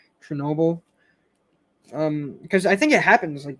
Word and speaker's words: Chernobyl: Chernobyl? Chernobyl.